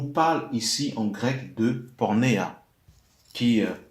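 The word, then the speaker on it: πορνεία: Donc, quand on dit sauf pour infidélité, on nous parle ici en grec de pornéa, qui s'écrit Porneia, qui nous parle de relations sexuelles.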